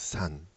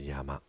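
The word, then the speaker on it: 山: For example, the writing of a mountain is pronounced as sun which is same in Korean and Chinese. But you also pronounce it as yama.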